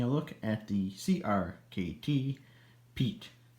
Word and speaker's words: Piet: Sharpen Blade here, and in this video, we are going to be taking a look at the CRKT Piet. It's pronounced other ways, but I prefer Piet.